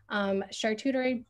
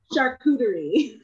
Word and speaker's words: charcuterie: plant-based and keto meals, as well as custom charcuterie boards. Please correct me if I said that word wrong. That word always trips me up. And catering for events. Yeah, how do you say that word, Lauren? Charcuterie.